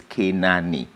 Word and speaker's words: Kinani: So we took that name and we put it in an African pronunciation, which is Kinani. The A stretched out.